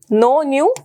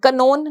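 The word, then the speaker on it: known: form क्या होगी नो नो न्यू नोन लिखते इसको हम के के साथ है लेकिन इसको पढ़ेंगे नोन क नोन नहीं पढ़ना के इ silent fall fail fallen drive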